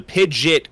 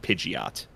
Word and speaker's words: Pidgeot: now i know okay apparently it originally the pidget came from the poke rap so i wonder if they had the pronunciation to fit the rap better uh every official pronunciation i've seen listed everywhere else has always said pidgeot weird okay there we